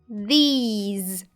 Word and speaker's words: these: другий звук довгий і порівняйте е і і не менш важливою є відмінність і останніх звуків у першому слові це звук с с а у другому слові з з а тепер спробуйте вимовити в